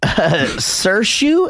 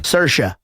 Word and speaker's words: Saoirse: Saoirse, is that how you say it? Nope. Try again. Saoirse.